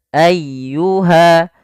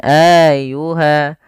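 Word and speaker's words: أيها: jelas dan tidak ditahanum Ayuha tekan laf y jangan Ayuha jangan auha atau juga memanjangkan a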